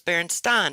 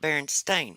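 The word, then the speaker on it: Berenstain: that's how i decided how i was gonna pronounce the berenstein bears was berenstein and not baron stain not even proper english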